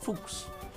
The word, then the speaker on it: Fuchs: fuchsia is the German term for Fox and pronounced fooks with the short all sound Fox okay